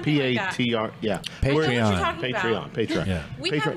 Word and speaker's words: Patreon: Right, but have you tried the, how do you pronounce it? Patreon, you know. I have no idea. Patron? P-A-T-R, yeah. Patreon.